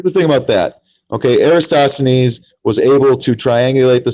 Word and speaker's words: Eratosthenes: Well, I mean, the curvature has been measured since uh Arista Arista These I can't pronounce his name well. Eratosthenes.